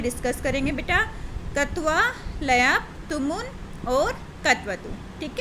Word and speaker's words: क्त्वा: में डिस्कस करेंगे बेटा, कत्वा, लयप, तुमुन और कत्वतु। ठीक है, अब देखो बेटा, कत्वा प्रत्यय क्या होता है? इसको बेटा का साइलेंट होता है, त्वा प्रत्यय बोलते हैं।